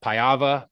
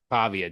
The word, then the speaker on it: Pavia: Um Diego P uh Pava Pava Pavia.